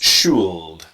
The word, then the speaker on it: should: again with the pronunciation the L is silent for a lot of students this is difficult they start to pronounce should and yeah they see